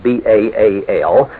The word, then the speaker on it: Baal: was the hebrew word baal in english spelt b-a-a-l and usually pronounced baal it means master or lord you